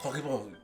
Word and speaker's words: Corriveau: Corribó. Corribó. Me cuesta trabajo a mí pronunciar la R francesa, pero por eso dejo que Tania lo haga, porque ella lo pronuncia muy bien.